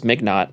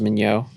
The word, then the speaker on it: Mignott: I thought it was Mignott. I didn't know it was Mignot. The correct pronunciation is Mignot.